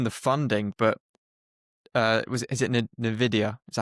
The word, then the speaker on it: Nvidia: I don't know if you've seen the funding, but is it Nvidia? Is that how you pronounce it?